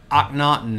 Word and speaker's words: Akhenaten: Akhenaten is how you say this.